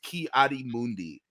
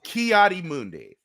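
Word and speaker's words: Ki-Adi-Mundi: the family just have such a hard time pronouncing his name it's kiari Mundi uh then you get Kayla RJ guy look we're not George patankening this here buddy it's kiadi Mundi okay it's not that hard and that's that's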